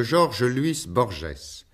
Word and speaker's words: Jorge Luis Borges: Le premier entretien de cette série était une approche de Georges-Louis Borges. L'écrivain a bien voulu agréer cette prononciation francisée.